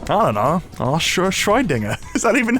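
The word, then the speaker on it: Schrödinger: Shroydinger. Is that even how you say his name? Schroydinger.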